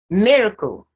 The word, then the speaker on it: miracle: have the schwa sound miracle miracle only myth is stress and the last of